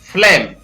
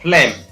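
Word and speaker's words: phlegm: Next है यहां पर इसको पढ़ेंगे फ्लेम, PH फ और LE ले और म, फ्लेम।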